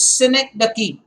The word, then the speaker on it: synecdoche: I repeat, the sound, the pronunciation is synecdoche.